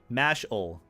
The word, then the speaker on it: Mashle: I'll start pronouncing it the way they they do mashel mashle so I was right I think I'll check